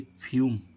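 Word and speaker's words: fume: कि क्या उच्चारण आएगा यू तो यू का क्या उच्चारण आएगा य तो इसको हम क्या पढ़ेंगे फ्यूम फ्यूम मींस क्या होता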